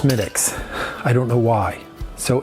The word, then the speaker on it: Smithwick's: I know it says Smithwick's, but it's pronounced Schmidt's.